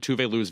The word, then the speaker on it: Tove Lo: I do want to say, by the way, that I was undereducated about how good Tove Lo's videos are.